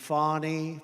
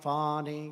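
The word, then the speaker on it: Fani: local attorney generals and fonnie fonnie you know fonnie spelled f a n i my name is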